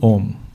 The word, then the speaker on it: Om: that itself will create the sound om o and m you don't have to pronounce m separately you just close your mouth and allow that air to keep going out it will pronounce m and o is that